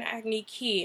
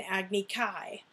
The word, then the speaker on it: Agni Kai: And then he was like, his dad challenged him to an Agni Ki. And I was like, no, it's an Agni Kai.